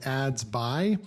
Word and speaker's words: Adsby: this new software called ads by not sure if it's adsb or ads by but because there's a y on the end I'm going to go with ads bu all right so